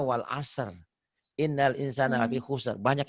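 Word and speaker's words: والعصر: Wal as, salah. Harusnya wal asr.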